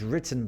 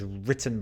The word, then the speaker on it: written: Fíjate en mi pronunciación. Yo digo, the letter was written by Robbie. Pero alguien de Estados Unidos, es que ellos pronuncian la T un poco más suave. Entonces, ellos dirían, the letter was written. The letter was written.